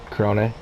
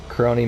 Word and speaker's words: Krone: I think I had someone tell me Krone is how you actually pronounce that. So if I'm wrong, you guys let me know in the comments and put the proper like enunciation on the E for me.